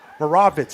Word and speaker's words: Moravitz: Moravitz is actually how you pronounce it.